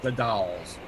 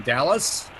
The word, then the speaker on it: The Dalles: It is pronounced the Dalles.